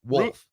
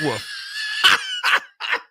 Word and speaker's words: wolf: Wolf. Wolf. Not woof. You got to try to pronounce the L.